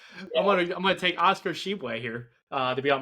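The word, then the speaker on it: Oscar Tshiebwe: mentioned with my team and his name is pronounced Oscar Sheway. So, if you want to pronounce that again, you can give it another Oscar Sheway. I'm I'm gonna take Oscar Sheway here uh to be on my team as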